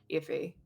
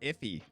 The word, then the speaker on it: Effie: I desperately adore Effie. I think that she's such a fantastic. Can you say her name one more time? Effie. Why are you calling her Iffy?